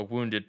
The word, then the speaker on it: wound: described as having a wounded paw and you know wound rhymes with harpoon and it's actually an